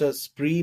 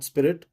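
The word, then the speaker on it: Spree: this European label प्री it's pronounce स्प्री नॉट स्पिरिट एंड ट्स द आर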